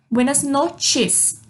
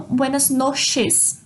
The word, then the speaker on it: buenas noches: O CH forma o som do T. Buenas noches. Não buenas noches, como fica escrito, mas buenas noches.